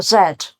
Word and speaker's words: z: word we have um a zed or a z As Americans uh call it and we'll come to